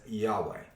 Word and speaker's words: Yahweh: true name of god yahweh is being mentioned you look it up in there and is the tetragrammaton yhwh which is pronounced in hebrew as yahweh all right that was